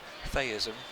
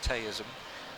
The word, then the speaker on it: theism: Did you know that theism, as in a belief in God, can also be pronounced teism, which is a morbid state attained through drinking too much tea?